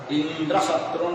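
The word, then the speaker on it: इन्द्रशत्रु: उसमें जो है उस यज्ञ में उच्चारण के अंतर्गत उसने स्वरों को इंद्र शत्रुन विवर्धस्व, ऐसे उसके मुख से गलत उच्चारण किया, जबकि उसको अंतोदात्त होना चाहिए, इंद्र शत्रु ऐसा करना चाहिए था।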